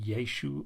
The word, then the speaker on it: Yeshua: or Joshua it was the Aramaic variant which is generally vocalized as Yeshua in the Hebrew Bible but was probably pronounced with the Galilean dialect as just yesu or yesu well that translate to